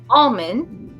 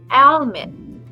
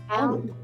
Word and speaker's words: Almin: name right, because I've always been calling him Almin, like almond, like the nut, but his name is supposed to be pronounced as Almin. Almin.